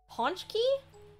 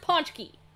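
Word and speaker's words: pączki: do you pronounce it punch key okay apparently it's pronounced ponchki according to the Google machine too much punch Key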